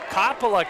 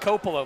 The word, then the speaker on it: Coppola: game and I was assured it is Coppola not Coppola like Francis Ford Coppola who directed the Godfather but Coppola the redshirt freshman from blue